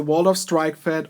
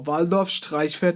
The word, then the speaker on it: Waldorf Streichfett: good stay tuned so here it is the world of strike fed or Valdosta fed as it's pronounced improper German and let's talk about the